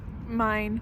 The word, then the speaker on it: Main: Mine, but it's spelled like Maine.